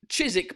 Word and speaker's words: Chiswick: Fuller's Brewery is an English brewery brewed in Chiswick, London. Fucking London, mate. Yeah, fucking Chiswick. Do you know what I mean? So, cheers, everyone. Hope you're having a good day. Chiswick, by the way. That's how you pronounce it, les Français.